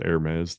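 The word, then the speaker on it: Hermès: Um they said the the Hermes, you know, Hermes, but it's pronounced Hermes, the the popular clothing brand, the big H.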